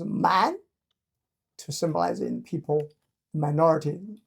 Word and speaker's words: 蠻: So using this character, pronounced as man, to symbolize in people, minority living in the south, right over here.